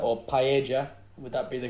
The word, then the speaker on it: paella: And thank you again, Sex Crisps, with the new paella or paella. Would that be the correct pronunciation, Jack?